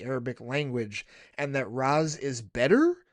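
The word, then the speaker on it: Ra's: Arabic language and that the closest way to properly pronounce his name would be the Raz pronunciation.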